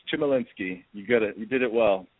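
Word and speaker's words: Chmielinski: It's Chimolinsky. You got it. You did it well. Good job. Spell it, please.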